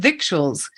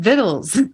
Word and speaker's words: victuals: it and I've said victuals it turns out we pronounce that word viddles I did not know